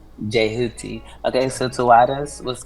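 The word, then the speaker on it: Djehuti: Yeah, the D is silent. It's Jehuti. Jehuti.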